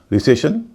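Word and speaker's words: recession: से पहले दो वोल है ई और ए रिसेशन इसमें वही स्थिति है दो वल है एस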